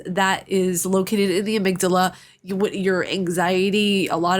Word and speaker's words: amygdala: is that located in the amygdala no it's not avidala you buttface I will